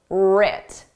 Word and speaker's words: writ: Successes and failures are successes and failures were writ. Did you spell this starting with AR or with AW? The West is silent, just like in the word right?